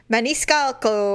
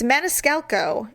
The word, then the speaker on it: Maniscalco: the pronunciation I'm like is it my nice calico or what is it it's Maniscalco and it's really have to